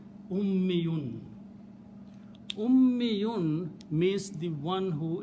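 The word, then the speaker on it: أمّيّ: If you pronounce this word this way, shadda and a ya, ummi, and always last letter should have it to the mas. So it will be ummiyun.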